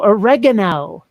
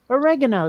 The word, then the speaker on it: oregano: you sprinkle on pizza Oh oregano you'd throw pickles at Sun pronouncing it the way the freaking Italians would I just run to pronounce that word which word a real word mm-hmm oregano the stuff you put